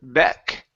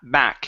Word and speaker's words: back: is the word back instead of Beck it's a it's an a a a sound so ba back his energy was back